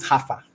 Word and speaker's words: Haifa: Now, the spelling is Jaffa, but they pronounce it Haifa.